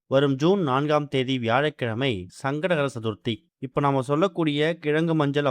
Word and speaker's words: சங்கடஹர சதுர்த்தி: முதல்ல சங்கடகர சதுர்த்தி அப்படிங்கிறத நம்ம முழுமையா உச்சரிக்கணும். சங்கடங்களை அறுக்கக்கூடிய சதுர்த்தி அப்படிங்கிறதால சங்கடகர சதுர்த்தின்னு உச்சரிக்கணும். வெறும் சங்கட சதுர்த்தி அப்படின்னு உச்சரிச்சோம்னா நமக்கு சங்கடங்கள் தான் வரும், சங்கடங்கள் தீராது.